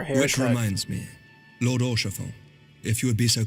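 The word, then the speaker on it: Haurchefant: Orchafon. That's how you pronounce it. Orchafon. Orchafon.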